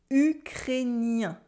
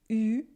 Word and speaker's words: ukrainien: It is ukrainien. Ukrainien. Ukrainien. There's a vowel after the A-I-N, so it becomes N.